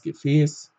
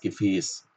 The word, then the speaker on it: Gefäß: Zum Beispiel das Gefäß. Da hört es sich wirklich fast wie ein E an.